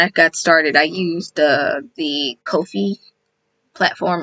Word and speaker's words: Ko-fi: is not pronounced like coffee. And I'm like, what do y'all mean? Yeah, I'm like, what do you mean? And so I clicked it and they're like, oh, coffee. Kofi rhymes with no fee.